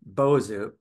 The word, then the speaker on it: bozu: One of the ways to refer to Buddhist priests in Japan, bozu, has the same pronunciation in Japanese as the popular music speaker company, Bose.